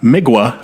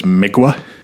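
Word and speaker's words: Mgła: L A, but apparently the L has a little little line through it. And uh according to the internet, that's pronounced like a W. So it's migua or miga.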